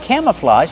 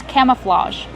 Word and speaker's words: camouflage: Kevin, how do we pronounce camouflage? Camouflage. Use the open a sound like ham and ma'am, cam, plus the short sound, cama, relaxed, camouflage. And the open ah like hot and stop.